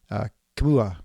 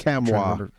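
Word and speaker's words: Nkamhoua: And so the player that Michigan State had to keep in the gutter was Olivier Kamua. I guess that's Kamwa. How to pronounce it. Kamwa. Sorry, yeah, Kamwa.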